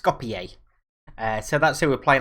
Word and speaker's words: Skopje: leg against what google has told me is pronounced skopje so that's who we're playing obviously we lost